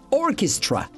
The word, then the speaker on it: orchestra: Cuidado con la pronunciación de orquesta. Orchestra.